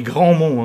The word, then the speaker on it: Grandmont: On dit Grandmont, hein. Parce que comme ça s'écrit, on écrit Grandmont.